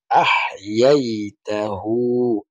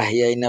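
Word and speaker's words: أَحْيَيْتَهُ: ওয়া উনসানা ওয়া যাকারিনা ওয়া উনসানা আল্লাহুম্মা মান আহইয়াইতাহু। আহ আহ হার উচ্চারণ ঠিকভাবে করতে হবে। অনেকে আহিয়াইনা বললে, এটাও আহিয়াইনা বললে অর্থ পরিবর্তন হয়ে যাবে।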